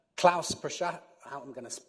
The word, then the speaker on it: Prochaska: To her right, Klaus Prochaska, I'm going to pronounce this wrong, aren't I? Prochaska, thank you, Klaus, is the lead for financial